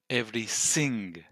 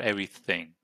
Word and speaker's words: everything: to go through so you don't pronounce a th sound which results in him in Orban Victor saying every sing instead of everything every everything everything